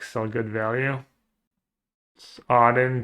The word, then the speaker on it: Odin: Odden just like the Norse gods. Yeah, I struggle with like pronunciation. How do you say it? Odin. Odin. Odin. Call his monstrous rage. Yeah, Odin. Odin. Thank you.